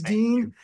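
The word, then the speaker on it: Deen: His name is Dean, spelled D-E-N, but phonetically we're both Dean, which means faith or religion.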